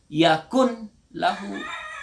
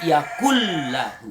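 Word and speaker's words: يكن له: Yakun Yakult lagu jadi jangan dibaca Yakun lahu tapi Yakul Lahu Hai ini santri biasa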